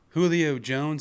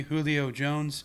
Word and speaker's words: Julio Jones: be it shouldn't be Julio Jones well I think what it is we're pronouncing Julio with the Spanish kind of accent because it's a Spanish name and Jones is an